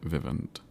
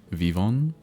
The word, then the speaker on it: Vivant: I do I do wonder if I just don't have a dread vivant. Dread Vivant. Maybe I I wonder if I just don't have one. Vivon, the tea is silent.